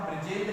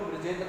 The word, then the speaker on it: ब्रजेंद्र: जैसे ब्रजेंद्र लिखा हुआ है तो बिल्कुल ब्रजेंद्र आप पढ़ेंगे। लेकिन जो बच्चा ब्रजेंद्र को बरजिंदर कह रहा है, बरजिंदर कह रहा हो ऐसा कह रहा है तो वो गलत माना जाएगा।